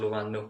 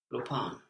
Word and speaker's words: lupaan: It would be luvan, but the V becomes... Lupaan. Lupaan, yes, the V becomes a P.